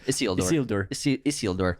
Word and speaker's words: Isildur: Isildur. Say it like Spanish. Sorry, Isildur. we're going to get so many comments. You actually pronounced it right.